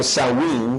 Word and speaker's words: Samhain: During this festival of Samhain, Durante este festejo pronunciado Samhain, some people dressed up in these costumes, muchas